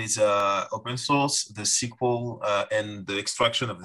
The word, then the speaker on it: SQL: secret not in french in french we said sql sql yeah yeah and in dutch we say sequel